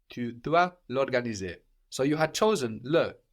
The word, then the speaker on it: l'organiser: I don't pronounce the Show vowel. me. Tu dois l'organiser.